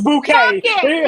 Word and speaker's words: Bucket: name was uh B they spell her bucket it was bouquet was bucket yeah yes and she hated